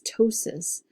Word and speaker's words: ptosis: kind of stumbles people because of the P before the T you don't pronounce it it's ptosis but that P is